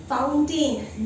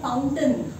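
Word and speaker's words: fountain: फाउंटेन नहीं है, इसको बोलते हैं, इसका सही प्रोनाउंसिएशन है फाउंटेन, जैसे माउंटेन।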